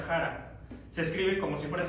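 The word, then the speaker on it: χαρά: La palabra en griego es jara, se escribe chara. Ya lo había dicho por ahí en alguna ocasión el pastor, chara, pero se pronuncia jara.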